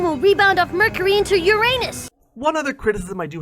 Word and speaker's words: Uranus: Oh, by the way, in that same episode, they pronounce Uranus. They don't say Uranus like they usually do in academia to make it sound less like your anus, which is a bit odd.